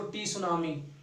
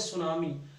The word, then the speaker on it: tsunami: सुनामी में टी word आता है, टी पढ़ा नहीं जाता, साइलेंट रहता है, इसलिए इसको पढ़ा जाएगा। ये नहीं पढ़ेंगे हम उसको टी सुनामी, ऐसा नहीं पढ़ सकते, इसको हम पढ़ेंगे सुनामी।